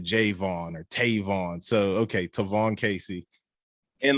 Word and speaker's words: Tavon Kacey: know some people's names like javon and they pronounce it jayvon or tavon so okay tyvon casey and like it's funny you say that because